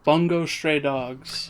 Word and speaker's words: Bungo Stray Dogs: so who knows okay uh then we go bungo stray dogs that's that's how you pronounce it very much looking forward to that